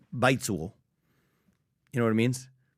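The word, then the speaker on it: 白左: And so I'm not fluent in Mandarin, but it'd be something like baizuo, something like that.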